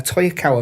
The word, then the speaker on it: Toyokawa: Yeah, Toyokawa, that's how you say his name.